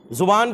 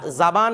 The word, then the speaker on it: زبان: জুবান এটা কিরে এটা জাবান এরকম না জুবান তো বলবেন যে হুজুর